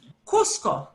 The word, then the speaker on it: Cusco: Cusco. Cusco. Cusco, it's got two hard C sounds.